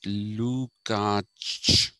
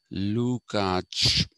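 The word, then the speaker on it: Lukács: name is luca so it has to be lukach that's the german uh sorry hungarian pronunciation lukach but people just say lukach though technically it's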